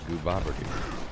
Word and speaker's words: Gooboberti: In case you're wondering, my name here is pronounced Gooboberti.